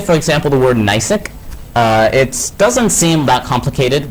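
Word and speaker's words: Gneiss: probably say, let's say for example the word Nysic.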